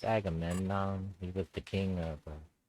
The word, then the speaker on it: Agamemnon: Say my name wrong on YouTube. They say a game. All kinds of ways. It's Agamemnon.